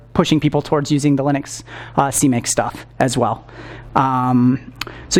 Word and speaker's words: Linux: Well, there's like a right way to say that. It's Linux, guys.